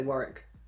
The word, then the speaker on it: Warwick: don't say it work you don't say work I say Warwick you say Warwick Warwick it's Warwick anyway